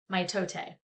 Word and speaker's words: mitote: It's mitote, pronounced mitote.